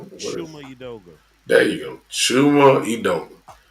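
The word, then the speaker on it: Chuma Udoga: Uh, Chimu? Chimo? What is it? Shuma Udoga.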